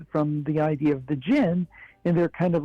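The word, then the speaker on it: djinn: honestly is the idea of something like the Gin And if your audience isn't familiar with that you spell that d-j-i-n-n and it actually um it's kind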